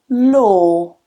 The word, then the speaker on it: law: Again, this is another one where some people think, there's a W in there, so it must be a W. It's not low or low, but it's just one vowel sound.